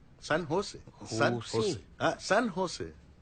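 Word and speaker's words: San Jose: ও বাবা, সান জোস? সান হোসে। সান হোসে। সান হোসে। জের উচ্চারণটা এইচ এর মতো হবে, সান হোসে।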